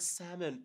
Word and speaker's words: salmon: What is the issue with pronouncing the word salmon properly? What is it with this L, Salmon? Because there's an L there.